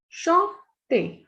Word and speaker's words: chanter: Chanter. Chanter is to sing. As I told you earlier also, the pronunciation of E and R is A. CH is sh.